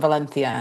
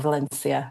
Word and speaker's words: Valencia: And sort of between Barcelona and Valencia if you know or Valencia if you don't.